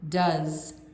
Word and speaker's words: does: go she goes goes notice the pronunciation is different go goes do does so even though they look similar they're pronounced differently go do goes does those